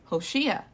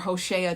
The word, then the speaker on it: Hoshea: that there's a new king hoshiya or hoshea just depending on how you pronounce it but he does evil